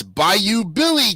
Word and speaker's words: Bayou Billy: a all right it's by you Billy time oh my God by you Billy yeah okay wait how do you spell it b-a-y-o-u Billy well like like on the Bayou and we'll start with